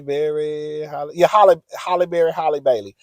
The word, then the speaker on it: Halle Bailey: Holly, yeah, Holly Berry, Holly Bailey, Holly Bailey. That's her name because I always got to say Holly Berry's name for me to know how to remember how to pronounce the Little Mermaid's name.